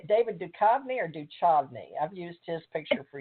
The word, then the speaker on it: Duchovny: How do you say it, David Duchovny or Duchovny?